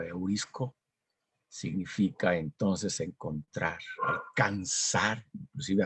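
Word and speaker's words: εὑρίσκω: Entonces, este verbo, que se puede más o menos pronunciar como eurisco, significa entonces encontrar, alcanzar, inclusive hasta alcanzar.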